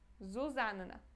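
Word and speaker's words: Zuzanna: ser zia ou Sofia o próximo nome é Susan Suzan Ok de novo pronunciamos esses dois n pronunciamos os dois Ok então Susan mesmo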